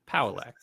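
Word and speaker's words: Pauillac: It's like Cadillac. Paullac.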